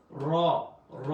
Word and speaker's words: ر: দাল জাল দাল দাল র একটু মোটাভাবে উচ্চারণ হবে এবং ঠোটের মধ্যে একটু কম্পন সৃষ্টি হবে। র যা একটু শক্ত হবে। জিব্বার আগা থেকে।